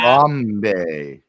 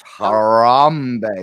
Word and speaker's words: Harambe: in the private chat harbe it's harambe you don't have to roll the r it's Brandon brag yeah